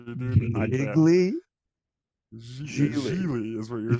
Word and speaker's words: Gigli: Pronounced Geely, It's Gigli. Gigli. Geegly. Gigli. How do you say it? Thought it was just Geely.